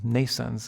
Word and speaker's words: NNAISENSE: for the physical world, NNAISENSE it is called, pronounced like nascence in English, like birth in English, except it's spelled in a different way. NN for neural nets, AI for artificial intelligence, and sense.